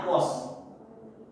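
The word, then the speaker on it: aqueous: Sedangkan kalau dia ini AQ, bacanya aquos.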